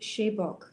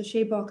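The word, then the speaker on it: Sebők: So one of my very favorites, and you can also listen to masterclasses of this man online, Georgi Shebok. So Shebok is spelled S-E-B-O-K.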